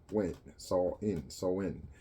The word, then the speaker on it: Samhain: Ancient original Halloween dates back to the ancient Celtic festival of Samhain, pronounced Samhain.